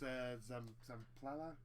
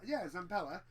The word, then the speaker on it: Zampella: So when this guy Vince Zamplala, did I pronounce that right? Hold on, let me have a look. Once I eventually find it, there you go. There we go. Zampella.